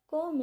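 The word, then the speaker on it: comb: कोम it properly. इसको कोम नहीं बोलना क्योंकि बी साइलेंट होता है।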